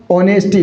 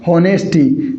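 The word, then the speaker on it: honesty: मैंने क्या बोला? ऑनेस्टी ना की होनेस्टी। यहां पर ये एच क्या है साथियों? यह साइलेंट है।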